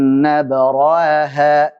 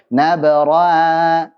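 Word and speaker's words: نبرأها: Jangan sampai nggak jelas juga. Jadi bacanya seperti ini. Min qabli an nabra'aha, nabra'aha. nabraha, hanya jelaskan. Jangan sampai nabraha.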